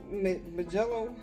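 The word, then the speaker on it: Mijello: You see, this is the Majello. How do you say this? It's M-I-J-E-L-L-O, like me and then Jello.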